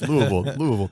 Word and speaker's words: Louisville: You came to Tulsa from Louisville.